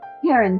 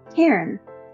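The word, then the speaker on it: Cairn: Not Heron Terrier, Heron, one syllable.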